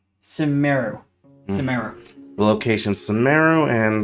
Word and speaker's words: Sumeru: Here's the pronunciation. Sumeru.